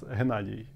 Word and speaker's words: Hennady: So, how American people say it, it's Hennady. Okay. My first name, how they say it in Ukraine is Hennady. Okay. Not H, but H. It's okay. Like different sound.